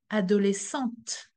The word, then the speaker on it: adolescente: I'm adding a E at the end of the word. And then the T that was silent before is pronounced. Une adolescente.